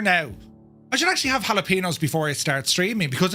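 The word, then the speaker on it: jalapeños: They put jalapenos.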